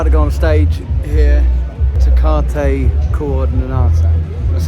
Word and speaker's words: Tecate Coordinada: Tecate Coordinada.